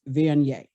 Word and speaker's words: Viognier: You spell Viognier, Viogner, but it's pronounced Viognier.